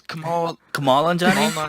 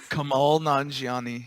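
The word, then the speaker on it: Kumail Nanjiani: to say his name, Camille Really? Anjani? It's Kamal Anjani? Come on, Johnny. Kamal Nanjiani. Nanjiani. Okay, yeah.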